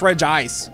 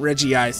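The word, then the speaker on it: Regice: Say it's Reg Ice, not Reggie Ice.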